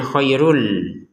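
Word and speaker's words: خَيْرٌ لَكُمْ: Maka kita masukin tanwinnya kepada lam sehingga cara bacanya bukan lagi khairun run run gitu ya. Tapi dibacanya khairul. kohairun menjadi kohairul karena kita gabungin dengan lamnya.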